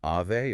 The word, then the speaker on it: Ave: Specifically, using Ave audio. Ave audio, yeah. And just so we are totally clear on the pronunciation for everyone, that is Ave, like the Latin Ave Maria, not avenue.